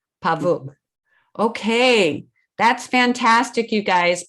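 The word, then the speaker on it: павук: is pavuk is that right yeah it's like pavuk okay that's fantastic you guys because a pavook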